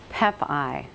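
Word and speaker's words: Pepaj: your last name so we say it right pep ey pep ey so I was getting it right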